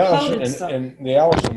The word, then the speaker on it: allicin: I don't know how you pronounce it's Allicin, like the name.